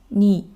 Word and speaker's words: 네: l'autre en coréen parlé, la seconde 네 qui est «votre» se prononce «ni».